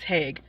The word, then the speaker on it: Haigh: eh eh eh eh the gh has to be silent so it's hey it's not it's Haig well and in our defense